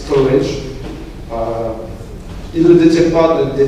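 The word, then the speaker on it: Storj: La première entreprise qui a mis à contribution la blockchain, ça s'écrit Storgy, mais ça se prononce Storage.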